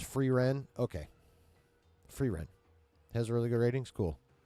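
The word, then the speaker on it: Frieren: Free is usually pronounced Free Ren.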